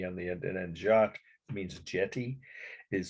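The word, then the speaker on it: Jatte: has an e on the end an end jot it means Jetty is spelled in French j a t t e 1886.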